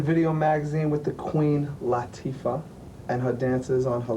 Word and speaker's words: Latifah: It's an Arabic name. Is it Arabic? Yes. Oh, my It's bad. Arabic, and it means delicate and sensitive, and it's pronounced Latifah.